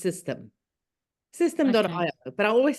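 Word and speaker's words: Systeme.io: webinar on, is it Système? Is it French? No, it's actually, I keep on saying system because I don't know why. I think because that E is there, but it is actually pronounced system.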